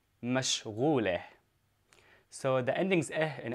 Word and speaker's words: مشغولة: And for a woman, I say mashghuleh. Mashghuleh. So what I did here, I just added the ending eh. So mashghul, mashghuleh.